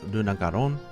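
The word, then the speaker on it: Lunagaron: fanged wyvern which is Luna gon or lunag Garin or however you want to pronounce it in Japanese it's lunag garon and its nickname is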